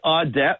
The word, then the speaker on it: Audet: Your partner on the podcast here, Audet, is it Audet or Auday, as we would say up there in Acadia land? It is Audet, but he is French-Canadian.